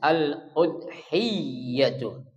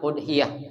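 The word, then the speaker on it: الأضحية: Jadi kata atau kalimat udhiyah itu ya ada tasydid ya. Jadi bacanya aludhiyatu ya. Jangan udhiyah jangan.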